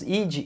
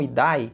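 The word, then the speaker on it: idae: Pergunta do Castle é por que o nome das famílias no final nós falamos id e não idai? Fiquei curioso. Então essa é uma regra do latim, de pronunciar os nomes em latim, já que os nomes científicos são escritos em latim. Tipo idai, a gente acaba dizendo ID.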